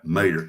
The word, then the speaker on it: mater: Yeah, Mater. M-A. I thought you said mayor. No, Mater. See, that's how we pronounce tomatoes down here. Taters. Maters. Mater, mater. Yeah. Like tomater, only without the tuh.